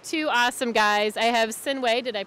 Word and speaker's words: Sinuhe: I have Sinuhe, did I pronounce that correctly?